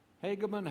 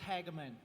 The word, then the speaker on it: Hagaman: resources to that end hegemon hagaman yes sir thank you pronounce your name for me i hate getting names wrong phonetically it's hageman all right sir yes